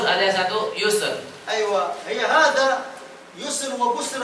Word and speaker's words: يسر: Ada namanya satu busur, ada satu yusr. أيوة، هي هذا يسر وبسر، هذا اتفق الخط واختلف النطق. Tulisannya sama, tapi cara bacanya berbeda.